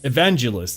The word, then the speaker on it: evangelists: I I'm I'm putting the emphasis on the wrong consonant. evangelists. Evangelists. That's how you say it.